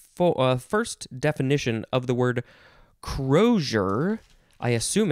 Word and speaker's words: crosier: here it is i skip right over it crozier yeah that's how you pronounce it that's all i wanted to know